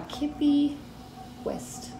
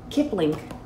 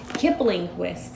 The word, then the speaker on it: Kipling West: the Halloween Tarot by Kippy West. Did I say his name right? Kipling. I knew it wasn't right. Kipling West.